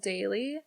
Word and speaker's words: Daylyy: So it's fun because while I was on tour, I got to use this new app called Daily. Mm-hmm. It's spelled Daylyy.